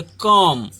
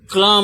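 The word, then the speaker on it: calm: उसी तरह एक जैसे इसको है, एक एग्जाम्पल और है, CLAM, तो इसको क्या बोलेंगे? कॉम, कॉम। ऐसे क्लाम नहीं बोलेंगे, कॉम।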